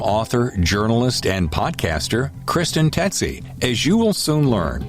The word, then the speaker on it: Tsetsi: I had to actually write it down phonetically. It's Tsetsi, Kristen Tsetsi, right?